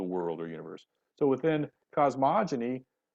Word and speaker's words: cosmogony: I think it's a hard G. I know I'm being pedantic, but Cosmogony?